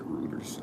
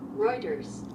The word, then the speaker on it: Reuters: off when I said routers I'm pretty sure like Reuters Reuters oh Reuters okay